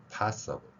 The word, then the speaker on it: possible: IBLE로 되어 있지만 여기도 어블입니다.